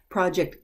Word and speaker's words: project: Project, noun, but then there's also the verb, but it's pronounced differently. Project, project.